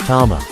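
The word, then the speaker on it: 玉: Jewel like object in these cases it's usually pronounced Tama so it means jeny dama is a ball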